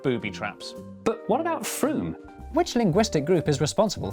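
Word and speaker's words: Frome: your sentence yeah i'm done golly don't yeah froome i guessed it because of the e in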